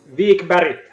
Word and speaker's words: Wikberg: I'll have a go at pronouncing your surnames. Wikberg and... Wikberg.